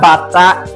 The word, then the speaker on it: Bata: So that bata is a musical instrument. Okay, so learn the pronunciation well.